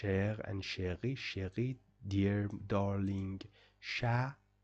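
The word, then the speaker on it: chat: Sher Sher dear darling sha T is not pronounced at the end of the this at the end of the words sha means uh cat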